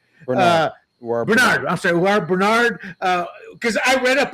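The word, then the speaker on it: Uar Bernard: That freak of a specimen that has never played football, how do you pronounce his name? U Bender, I believe. Uh, Bernard, I'm sorry. U Bernard.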